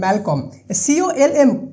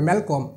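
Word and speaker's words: Malcolm: ছিল পুত্র তার যে নাম ছিল সেটা হল ম্যালকম কলম হবে না কম হবে ঠিক আছে এলটা সাইলেন্ট থাকবে ম্যালকম ক্লিয়ার এখানকার ওভারল যে স্টোরিটা স্টোরি যে এন্ড দেয় মানে যে শেষ করেছে তার নাম হলো ম্যাকডাফ।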